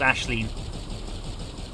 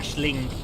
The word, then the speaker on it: Aisling: One of the members of the Imperial family on Elite Dangerous is called Ashleen. I still pronounced it wrong, haven't I? Ashling.